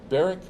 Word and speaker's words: Barak: And did your dad call you Barak because of cleaning barracks?